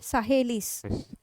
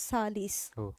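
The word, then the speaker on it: Sahli: Salis acid hematin method many students they will not know to pronounce this name also they will they used to say sahis okay just read on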